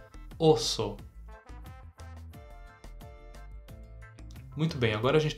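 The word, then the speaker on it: oso: urso e olha só a gente tem uma letra O no início uma letra O no final e as duas se pronunciam da mesma forma repete para mim osso muito bem agora a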